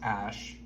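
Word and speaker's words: Æ: and then I guess the AE is pronounced ash okay and then he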